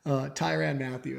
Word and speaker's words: Tyrann Mathieu: Is it Tyrann Mathieu? Gosh, I'm terrible at that stuff. I'm terrible with names, guys. I read way too much and do not watch with the volume on nearly enough. Tyrann Mathieu, I believe, is the proper way to say